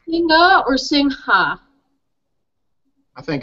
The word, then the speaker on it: Singha: you look it up it says do not pronounce the ha but if you listen to the people say it they actually say it so I think it's